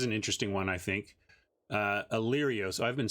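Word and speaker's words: Alirios: Illyrios. Oh, I've been saying that wrong, I think. Illyrios. Did I spell that?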